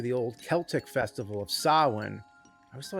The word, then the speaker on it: Samhain: It dates back to the old Celtic festival of Sawin. I always thought it's weird how it's spelled Sam Hayne, but pronounced sawin.